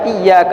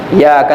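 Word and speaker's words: إِيَّاكَ: Fatihahnya tertinggal tasdidnya harus dibaca iyaka na'budu ya. Baca i iyaka na'budu gak ada tasdidnya gitu kan.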